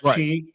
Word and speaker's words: chi: It's not your chai, it is your chi, right? It's pronounced chi.